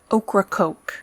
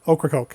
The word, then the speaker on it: Ocracoke: island is named Ocracoke Ocracoke yep I did check this pronunciation of that failed to prep you before the evening but you got it right well it sounds like okra and coke pretty much pretty much I think